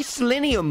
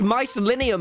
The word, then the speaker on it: mycelium: have i got my selenium blocks that's not how you pronounce it it's my selenium get all of this mycelium off of my shite